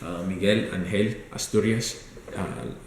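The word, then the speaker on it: Miguel Ángel Asturias: So I found a school, Miguel Angel Asturias, in Spanish to say it correctly, Miguel Angel Asturias, Escuela de Español.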